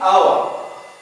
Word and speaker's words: our: Like in our. Our. الـ H هنا كتبت لم تنطق.